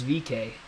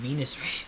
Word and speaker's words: VeeKay: the caution between Alex Palou and Rinus VeeKay. I keep saying Venus. I keep getting his name wrong.